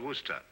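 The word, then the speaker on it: Worcester: where sister oh yes I see as Lord Worster mhm his M be fit to be hog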